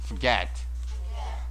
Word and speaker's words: forget: 자, 여러분 발음할 때요, forget이 아니고 forget, forget. R 발음 잘 안 해도 돼요.